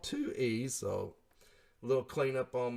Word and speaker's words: Tui: I call it TUI, and it's called 2E.